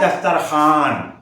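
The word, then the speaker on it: دسترخوان: में आता है दस्तर लेकिन बोला जाता है दस्तरखान इस तरीके से वो वाव जो लिखने में आए पढ़ने में ना आए तो उसको वा मा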